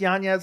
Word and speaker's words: Yanez: I like Yanez a lot. That's how you pronounce his last name.